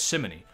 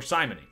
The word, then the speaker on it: simony: to do with embezzling maybe that's simony ah or simony i said it wrong again that makes sense okay